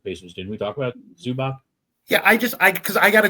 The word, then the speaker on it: Zubac: I like Zubac as a player. I really do. That's how it's pronounced.